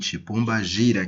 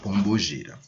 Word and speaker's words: Pombagira: Eu vou utilizar a forma de expressão que costumam usar aí comumente, Pombagira, que na verdade nós pronunciamos Pombogira.